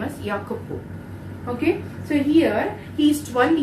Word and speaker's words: Jacopo: Jack Jack see you should not say if Jacopo it's a Kapoor okay in each IV they're pronounced in such a way though the spelling